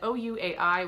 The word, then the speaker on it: Ouai: And last is from the brand Ouai, which is pronounced Way, apparently, so thank you so much for that.